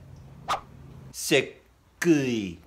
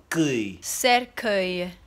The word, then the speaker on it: cercueil: Cercueil. Cercueil.